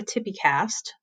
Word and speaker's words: TPCASTT: video for how to do a Tippi cast which I know that's not exactly how the letters go on this but that's how you say it even though the spelling doesn't quite work and this is our